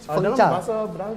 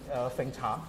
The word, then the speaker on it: Fengcha: Fengcha. Dalam bahasa Cina dia pronounce sebagai Fengcha.